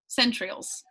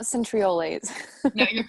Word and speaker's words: centrioles: centriole say that again centrioles centrioles not centriolates centrioles was it not i